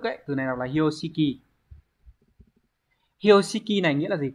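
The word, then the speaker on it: 標識: Từ này đọc là Hyoshiki.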